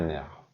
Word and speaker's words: nerf: کلمه نرف به معنای عصب اگه مفرد باشه افشو میگم نرف، ولی وقتی جمع بسته میشه دیگه افش تلفظ نمیشه.